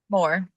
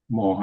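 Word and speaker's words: Mohr: How do you pronounce it? More. More.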